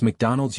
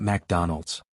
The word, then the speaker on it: McDonald's: support but found none it's McDonald's you fried battery not MacDonald's Mina laughed n no